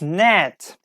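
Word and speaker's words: gnat: people it's name is net yes with G yes number six is G net like we don't pronounce G here as I told you G and end combination together we don't pronounce g net yes net like in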